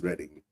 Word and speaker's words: Reading: Well, I can say Reading too, right? Spelled that way. So, but of course, it's pronounced as Reading.